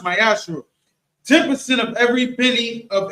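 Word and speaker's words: מעשר: Means tithe in Hebrew is pronounced ma'aser.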